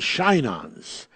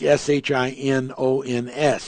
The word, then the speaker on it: Shinons: the 68th chapter of Psalms, and it's called Shinons. And when you actually look up the word, that would be the pronunciation of it, like S-H-I-N-O-N-S, Shinons.